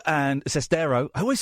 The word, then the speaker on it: Sestero: midnight the exclusive interview I conducted with Greg cesto and sestero I always say it wrong and Tommy wiso